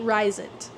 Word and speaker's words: Rysand: His name is Rysand, by the way. We meet Rysand. I don't know if you know that's how you say his name. I'm just gonna say Rise.